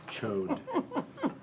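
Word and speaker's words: Chaud: Chode. But yeah, I mean, chode. Just chode. Chode. Sure. I mean, that's how it's spelled. It's C-H-A-U-D. Is the D silent?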